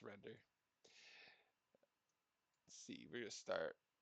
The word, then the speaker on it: Render: it off with a good old render or rinder, however you want to pronounce it. Of course, it's render.